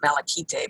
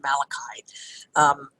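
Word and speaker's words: Malaquite: way south along Malakai beach i used to pronounce at malachy day but apparently it's pronounced malachite walk south away from the visitors center you'll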